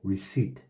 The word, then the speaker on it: receipt: the total that's the receipt notice is not pronounced receipt it's our ECE IPT but the P is silent so receipt uh-huh okay let's look